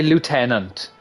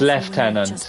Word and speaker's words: lieutenant: and talk about bleach I always say Lieutenant but like reading bond for example and I see the word I read it as left tenant like you know the British pronunciation just feels weird saying it for Bleach I